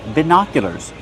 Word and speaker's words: binoculars: Use the short I sound like this is ba. Put the stress on the second syllable. It's an open sound like hot and stop. By binoculars make the y sound like yes in yellow. Binocia. Binoculars. And the sound like burger.